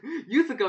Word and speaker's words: USACO: to be doing the us2020 wait what no use ago 2021 us open that's how you say it